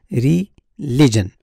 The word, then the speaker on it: religion: of this word is religion religion the correct pronunciation is a religion religion so the stress is on the second syllable and the third syllable